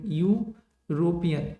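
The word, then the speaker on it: European: सी इज an Indian artist married to यूरोपियन, देखो यूरोपियन, यू आ रहा है ना, मतलब जो प्रोनाउंसिएशन आ रहा है वो यू आ रहा है, तो ये तो सही हो जाएगा।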